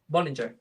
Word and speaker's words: Boellinger: I think you can actually the way you pronounce it in the review is fine because I think that's a German pronunciation, which is Mhm. the original. But because I live in England, they pronounce it Bollinger, so it's Bollinger.